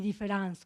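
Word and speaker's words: différance: utilizar un neologismo que se escribe de manera diferente, pero se lee de manera igual. Différence y différence, con una A.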